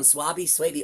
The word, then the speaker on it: Swaby: Suabi. Okay, I'll remember that. Suy Don people just you can it rhymes with baby.